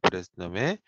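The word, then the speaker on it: Bresenham: 그 이 사람 이름을 영어 알파벳으로 쓰게 되면 BRESSENHAM이라고 해서 이 그 H가 묵음인 것 같아요.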